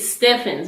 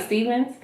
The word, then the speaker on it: Stevens: My last name is Stevens. Everybody pronounces it Steffens.